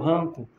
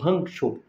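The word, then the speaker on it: Hancko: namorando, que é o Hanco ou Hankoch, é assim que se pronuncia, volta a ficar no radar da Juventus.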